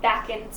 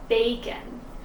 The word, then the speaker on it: bacon: button or bacon that's another one that has a long a sound it's not back-end bacon so it's short an open